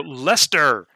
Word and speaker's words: Leicester: butcher it again so lester leister i googled it i actually googled the pronunciation because i'm pretty sure this leicester like you just pronounced it leicester l-e-s-t-e-r yeah this is like you